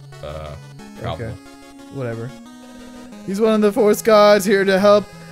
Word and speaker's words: Troupple: Pronounced like mouthful. Troupple.